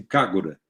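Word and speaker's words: KAGRA: cargo da é que se escreve desse jeito mas japoneses pronunciam cara né ele tem braços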